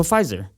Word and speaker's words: Pfizer: tested the five jobs the silent p po pfizer yeah you're basically the